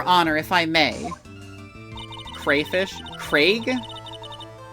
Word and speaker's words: Craig: I said Crag, but it's Craig, right? It's supposed to be pronounced Craig.